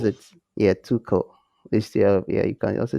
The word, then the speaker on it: Tuchel: then it said that german is supposed to be too um too cool or something like that too cool it's it's it's the the ch is key but the way to